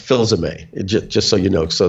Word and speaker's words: Filsaime: So Filsaime is the way my father pronounced it. And so I made an American version of that, Filsaime.